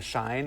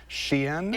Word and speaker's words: Shein: That company, I kept saying Shine. It's pronounced Shein. It is, but that's okay.